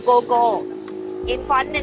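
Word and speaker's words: Ko: That's co. Go. Co. Go, not co. Go. Oh, fuck hell. If you won't listen, it's spelled K-O, which in English is co. But in Thai we call go.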